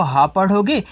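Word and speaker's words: hope: था वैसे इसको क्या पढ़ोगे एच से आप हा पढ़ोगे ओ से ओ की मात्रा हो गया हो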